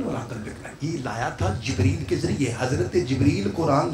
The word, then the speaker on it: جبریل: بھائی جی نہ جبرائیل کہنا ہے یہ غلط ہے، نہ جبریل کہنا ہے یہ بھی غلط ہے. تلفظ ہے بکسر الجیم جبریل.